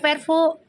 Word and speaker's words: Verfu: Kan udah gue bilang Puji mau disiperin sama siapa kek, Feral juga sama siapa kek, gue mah tetap di Vervo, bacanya Vervo sampai salah satunya nikah atau salah satunya bilang bubar, gitu aja ya.